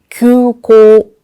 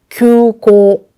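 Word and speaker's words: 急行: 먼저 왼쪽 볼게요. 급행입니다. 규고, 규고. 오른쪽 공항입니다. 구고, 구고. 큐, 쿠. 구분이 되시나요? 그래서 Q라고 할 때 요 U라고 하는 발음 주의해 주시고요.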